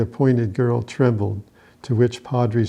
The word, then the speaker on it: Padri: Happy Valley Padri gave him his name, Padri, pronounced Padri, because of his stature and white clothes made him resemble a priest.